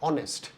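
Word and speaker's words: honest: तो यहां पे इसको हम प्रोनाउंस करते हैं ऑनेस्ट। ऑनेस्ट और इसमें एच साइलेंट है।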